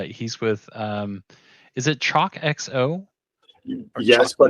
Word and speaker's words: Chocxo: salson and uh he's with um is it chocxo yes but it's pronounced choo choo got it okay Choo so I've been